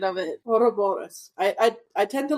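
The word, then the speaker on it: Ouroboros: American pronunciation of it hor Boris I I I tend to like the split the RS yes I I like rolling the RS so that's why I say it like that but you will catch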